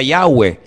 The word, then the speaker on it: Yahweh: Ese nombre se pronuncia Yahweh.